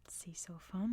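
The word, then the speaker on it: Sisophon: But when Siam, now Thailand, was in control, they pronounced it Sisofon and the name stuck. So it's still officially called that today because that's what the Thais called it.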